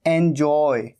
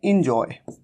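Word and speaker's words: enjoy: पर और एंजॉय एंजॉय कई बार कई लोग मिस्टेक करते हैं इसे कह देते हैं इंजॉय ये एंजॉय नहीं है यहां पर इ का साउंड नहीं है बल्कि यहां पर कैसा साउंड है ए का साउंड एंजॉय हो सकता है आपको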